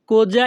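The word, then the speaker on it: cosa: তুমি কি বলতে চাও এই বাক্যের ইতালিয়ান ভাষা হবে কোজা ইন্তেন্দি। এখানে সি ও কো এস এ যা।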